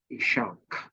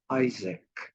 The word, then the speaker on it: Isaac: was is attributed to his Elder son ishak okay and uh which we today pronounce as Isaac all right and uh